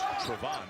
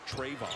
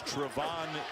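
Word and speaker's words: Trevon: he his name is actually supposed to be pronounced Trarevon, not Trayvon or Trayvon.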